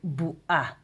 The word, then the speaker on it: בועה: But you we we don't say because uh we're talking today like Ashkenazi. So we um pronounce it a bit like al if not like oin. We say like al if so bu a bu a bu a